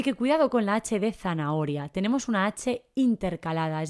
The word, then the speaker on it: zanahoria: el medio así que cuidado porque no tiene ese sonido aspirado que hacemos no zanahoria hay que recordar pronunciarla bien y escribirla con la